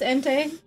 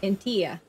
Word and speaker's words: Entei: I knew this was pronounced Entei. I feel like that's... How else would you pronounce it? Entia. Entia? Entei. Entei. Okay, I guess you would probably pronounce it Entei. Yeah, it's the only way that, like, logically makes any sense.